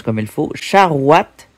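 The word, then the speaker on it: charoïte: Charouat ou charouit. Je dirais plutôt charouat.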